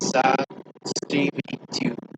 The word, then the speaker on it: Здравствуйте: For meeting for the first time for someone for whom it is necessary to show respect, you say "Здравствуйте," pronounced as "Zdravstvuyte."